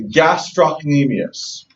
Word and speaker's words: gastrocnemius: you to remember the gastrocnemius dips I pronounced the scene not everyone does but I pronounce the C because I want you